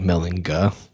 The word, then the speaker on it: Mellinger: but pronounced like a j right so German pronunciation like melinga oh really yeah but then Ellis Island did